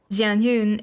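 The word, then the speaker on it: Xianyun: But the X in Jianyun is actually pronounced Je and not She.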